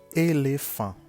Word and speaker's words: éléphant: On commence avec le mot éléphant. Éléphant. En anglais, elephant. En français, quand le E a l'accent aigu, ça se prononce avec la bouche ouverte et, comme dans éléphant.